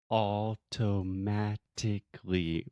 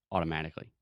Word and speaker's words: automatically: do now so automatically that's again the sound of T that we do not actually pronounce we do not articulate the t's we don't say automatically we say automatically cool automatically I'll get